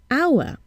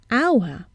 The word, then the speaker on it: hour: need to listen at how the word is pronounced for examp example hour we see an H but we hear a vowel sound at the beginning hour and not how so